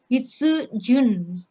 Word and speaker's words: 筆順: Hitsujun.